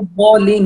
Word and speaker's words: الضالين: الله هنا مضمومة مفخمة ولا الضالين هنا الواو مرققة ولا الضالين ولا اللام والواو مرققة والضاد هنا مفخم مشدد مفتوح فنفتح الفم ونأتي بالاستطالة التي ينساها كثير من القراء عندما يقرأ يقول ولا الضالين لا هنا تأتي الاستطالة